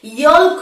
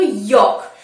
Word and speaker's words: yolk: ইয়ল্ক বলা যাবে না, একে আমরা কি বলবো, ইয়ক।